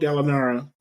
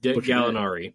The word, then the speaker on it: Gallinari: DJ Austinine, Will Barton, Kenneth Fared, Randy Foy, Danell Gallinara, Galinari, Gallinari, Gallari, I butchered that.